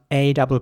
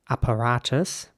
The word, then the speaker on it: apparatus: The next word is spelled A-P-P-A-R-A-T-U-S. And in British English, it would be pronounced apparatus. Apparatus. And in American English, it would be more like apparatus.